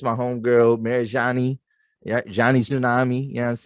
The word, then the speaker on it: Marajonni: introducer it's it's my it's my home girl mary johnny yeah johnny tsunami you know what i'm saying